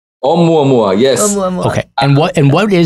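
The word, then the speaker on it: ʻOumuamua: Waldman over here and tell us, how do you pronounce this Hawaiian name? Oumuamua? Oumuamua. Oumuamua, yes.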